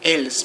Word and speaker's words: elles: Although they are spelled E-I-L-S, E-L-E-S, they are pronounced like il, elle. Only in special occasions you can pronounce the S at the end. You can say ils or elles, but only at certain occasions.